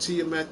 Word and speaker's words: Tiamat: It's pronounced Tiamat.